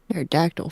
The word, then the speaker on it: Pterodactyl: Pterodactyl for sure. Pterodact, you know, the P is silent.